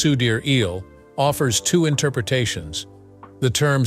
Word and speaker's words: Sidereal: Sidereal, the last portion of her name, which is pronounced Sudir-eel, offers two interpretations.